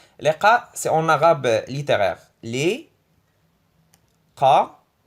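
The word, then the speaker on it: لقاء: C'est liqa. Liqa, c'est en arabe littéraire. Li, qa, e. Le 2 ça se prononce e.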